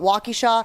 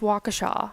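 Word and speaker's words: Waukesha: the show talking about walkie Shaw and they made fun of me am I saying it wrong I I would say it's Waka Shaw yeah I it's a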